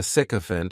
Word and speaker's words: sycophant: The next noun is sycophant and this noun has three syllables and the stress is on that first syllable.